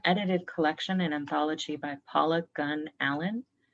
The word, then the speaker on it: Paula Gunn Allen: collection in anthology by paula gunn allen that's polygon allen and gunn is spelled with two n's and the title of